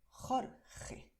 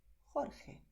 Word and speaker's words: Jorge: Juan, José, Jesús, Jorge. ¿Vale? ¿Ves aquí? Yo he forzado la garganta, pero también puedes pronunciar con suavidad. Juan, José, Jesús, Jorge.